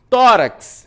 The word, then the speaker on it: tórax: Tórax, mesma coisa. Tórax. Então, penúltima sílaba, o tó, é uma paroxítona, recebe acento.